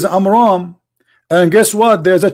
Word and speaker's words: Amram: Because Muhammad, he could not even pronounce it correctly. So the correct name is Amram.